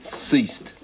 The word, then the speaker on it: ceased: letters c i s not bad but it's a soft C ceased it mean yeah it